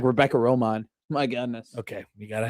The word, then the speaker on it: Romijn: It's like Rebecca Romijn. My goodness. Okay, you gotta have to pronounce that. Romaine, like the lettuce.